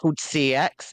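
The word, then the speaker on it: CeX: We have this shop over here, which is going to sound insane, but the British people know it's called CX, and it looks like it's spelled like sex.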